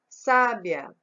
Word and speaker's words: sábia: Sábia, sábia. Então, sábia, sábia, sá. O sá é a sílaba mais forte.